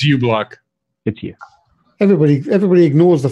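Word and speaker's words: uBlock: for a different thing I thought it's pronounced Mew block not you block because it Sam you naughty you know it's Yes Mother it's you block appear anybody everybody ignores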